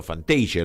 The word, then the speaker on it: Fantasia: No Fantasy, sino Fantasia, le dicen cuando pronuncian en español.